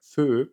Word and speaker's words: Feu: Und das ist der Feu von Miss Keo. Mir wurde gesagt, es wird Feu ausgesprochen. Der ist so special, der